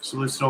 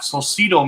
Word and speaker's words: Solcito: I hope I'm pronouncing that almost close to right. Oh, no, I'm not. Solcito Music. I'm so sorry. For some reason, I'm reading an extra I in there, and it's not there.